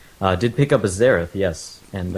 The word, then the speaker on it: Xerath: did pick up a zerth yes and I think zerth is the is the um sort of widely known pronunciation of that but he's a very